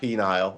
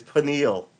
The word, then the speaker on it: pineal: pineal beneal beneal pineal it's not penile i'm sorry it's pineal all right oh my